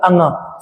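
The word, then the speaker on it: ङ: अब ये जो दिया है दोस्तों, इसका प्रोनाउंसिएशन क्या होता है, अंगा।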